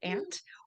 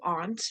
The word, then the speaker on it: aunt: The ant can be pronounced like the insect ant, or also aunt, like the A in Spanish for tía.